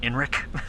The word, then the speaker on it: Enric: Calling him Eric, it's actually Enric.